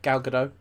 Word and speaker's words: Gal Gadot: to take anything away from Wonder Woman or Gal Gadot. Is that how you say it? Yeah, Gal Gadot.